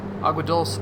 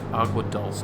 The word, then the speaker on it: Agua Dulce: What's the proper pronunciation? It is dulce. I don't know, dude. I don't think Spanish says it the same. And like locally, I don't think it's dulce. Dulce. Say it like a dumb American. Dulce. The Spanish are wrong.